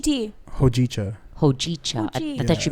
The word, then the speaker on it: hojicha: No, but their matcha and their hojicha tea are really good. What'd you call Because it? it's from Japan. What is it? Huchi tea. Hojicha.